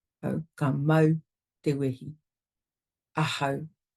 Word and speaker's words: ahau: Ahau. commonly mispronounced as a how, which is also difficult to listen to.